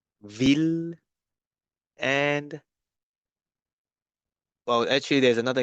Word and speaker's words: ville: But then there are 3 exceptions where you need to go back to the L sound, which is mille, ville, and, well, actually there's